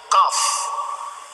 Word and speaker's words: Qaf: Misalnya Qaf. Qaf. Bacaannya pun harus kita tanya kepada guru ngaji kita. Nyok gimana baca? Qi lah baca. Bahasa Arab Qi juga boleh. Ada artinya juga Qi. Tapi disuruh baca Qaf.